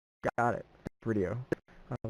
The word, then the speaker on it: VRideo: Am I saying it's not VRideo, but it's actually VRideo? Yes, I typically say it's video with an R, basically. Got it. VRideo.